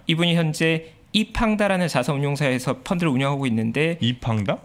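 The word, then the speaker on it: 易方达: 이분이 현재 이팡다라는 자산운용사에서 펀드를 운영하고 있는데 이팡다? 네, 이게 자산운용사 이름인데 네. 영어로 하면 이펀드인데 중국식으로 발음해서 이팡다라는 이팡다. 자산운용사 매니저고요.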